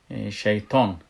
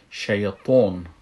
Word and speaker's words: شیطان: از این خاطر بسیار مردم اگر متوجه باشین میگن شیطان، شیطان میگن، به ت تلفظش میکنن، در حالی که ای باید با تا یا توی تلفظ شوه، که میگیم که شیطان، شیطان باید امو صفت اطباقش باید در نظر بگیریم.